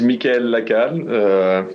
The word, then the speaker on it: Mikhail: me introduce you to Mikhail uh and excuse my terrible French Mikhail why don't you pronounce it correctly for our audience hi everyone thank you Alan so my name is Michael I'm director of product